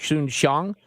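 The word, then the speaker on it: Soon-Shiong: had with the times owner how do you pronounce his name Scott Patrick shun Shong yes that's it right and he called you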